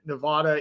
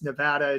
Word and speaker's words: Nevada: So Philadelphia, if you're out east and you've always called it Nevada, it's Nevada.